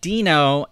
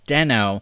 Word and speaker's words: Deno: may have been noticing I'm calling it Dino in not den oh that was one thing